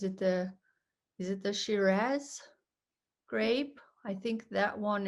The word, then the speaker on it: Shiraz: yeah so yeah um that's interesting the different pronunciations yes so we we would definitely we would definitely say shiraz in english shiraz yes so i i always i always find